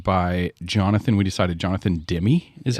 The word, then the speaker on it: Demme: We decided Jonathan Demme is how you say it.